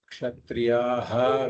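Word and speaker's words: क्षत्रियः: So before a Ksha, if there is a Visarga, then we pronounce that Visarga fully. That's a rule. Sukhinaha kshatriyaha, we should say.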